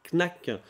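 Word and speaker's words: Knaaack: d'artistes et d'artisan d'art knac knac qui s'écrit comme ça se prononce k n a a a C k avec 3 a pourquoi avec 3 a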